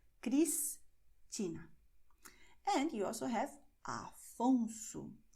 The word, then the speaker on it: Cristina: You also have the letter S before a consonant, but at the end of the syllable. So you say Cristina. You separate the syllables, and after S you see a consonant. Cristina.